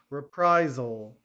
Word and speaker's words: reprisal: Reprisal, okay, make sure the Z sound, okay, on the S. Reprisal.